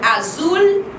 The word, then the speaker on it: azul: Rosa, porque o R é vibrante, e azul, porque o L, ele é puxadinho, tá?